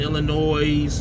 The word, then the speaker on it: Illinois: I do a lot of Midwest to like Texas to like Indiana and Illinois. Don't pronounce the S.